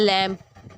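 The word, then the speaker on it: lamb: जी silent चला गया, एंड लैम्प लैम्प, ठीक है, इसमें हमारा बी साइलेंट चला गया।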